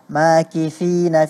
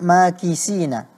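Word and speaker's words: ماكثين: Juga beberapa huruf masih keliru pengucapannya, seperti pada lafal, pada kata makifina fihi abada, dibaca kedengarannya makisina. Huruf tha terganti menjadi huruf sin.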